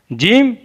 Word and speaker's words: ج: जीम, जीम ज़बान के दरमियान और तालु के दरमियान से अदा होता है। जीम is pronounce from the middle of the tongue and the middle of the palette.